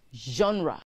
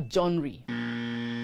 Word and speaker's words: genre: music art or literature it is pronounced genre not jewry or john ray a set of connecting